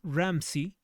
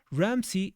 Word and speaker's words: Ramsay: hasta que el arqueólogo William Ramsey, Ramsay se escribe William Ramsey. Ramsey descubrió la tumba del santo.